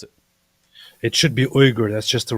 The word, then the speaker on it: Uygur: does he pronounce it weer how does he pronounce it it should be uger that's just the right way it's uger uger it's not I always hear weager I always hear weager weager talking about the